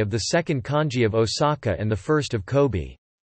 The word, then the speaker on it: 大阪: However, the majority of Japanese place names are read with kunyomi: Daban Osaka, Chingsen Aomori, Shangzhen Hakone.